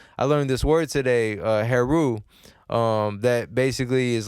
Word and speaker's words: Heru: learned this word today hair rule that basically is like an Egyptian god that that demonstrates like being a hero and I was like okay it sounds like the word hero right Haru and I was like